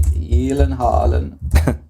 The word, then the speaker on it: Gyllenhaal: Jake Gyllenhaal. The correct pronunciation.